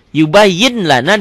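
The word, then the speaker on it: يُبَيِّنْ لَنَا: Yubayyin lana dibacanya jadi yubayyin lana. Ditulisnya kan pakai laten yubayyin, ada n-nya. Yubayyin lana dibacanya jadi n-nya hilang. N-nya hilang. N.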